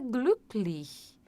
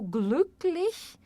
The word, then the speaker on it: glücklich: Porque você não faz o biquinho, você precisa fazer o biquinho e falar I, não falar somente I, ó.